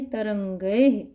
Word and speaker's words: तरंगैः: तरंगैः, क्योंकि ऐ की मात्रा है इस पर, और